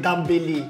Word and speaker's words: Dembélé: C'est Dembélé. Ah bon, moi, je dis Dembélé.